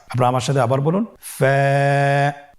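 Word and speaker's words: ف: হরফ আমরা দেখতে পাচ্ছি আপনারা আমার সাথে বলুন ফা কফ কাফ লাম মিম নুন ওয়া হামজা ইয়া ফা হরফটি আপনারা স্ক্রিনে দেখতে পাচ্ছেন ফা হরফটি উচ্চারণের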